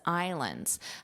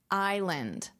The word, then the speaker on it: island: Island. Island. So there's no s here, but to make it plural, you would pronounce that s.